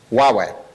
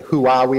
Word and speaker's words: Huawei: okay but just to clear up the pronunciation of the name its Huawei okay I get who are we a lot okay which is is not the way that the company's name is pronounced so what I've just